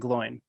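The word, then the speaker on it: Glóin: come to the council as well right it's glowing and Gimli yeah glowing's there because he talks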